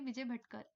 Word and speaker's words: Vijay Bhatkar: You can say Vijay Bhatkar. Vijay Bhatkar is the correct pronunciation for his name.